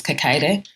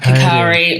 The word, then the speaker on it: Kakaire: Yeah, it's a funny name that seems to have like a lot of different possible pronunciations. Like in Uganda, it's Kakaire, but Kakaire or Kakaire is either one of those is fine.